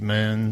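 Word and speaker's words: Mün: That, because of the umlaut in the U on mun, it's actually pronounced moon.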